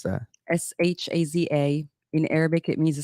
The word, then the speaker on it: Shaza: How do you pronounce that? Shaza.